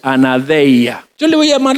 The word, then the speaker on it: anaideia: Nos vamos a meter en la palabra clave, anaideia. Alguien que la pronuncia, anadeia.